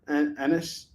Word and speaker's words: Ennis: Crossed C-Day edition, Get Infected by Garth Ennis, and his name rhymes with the P word, Ennis.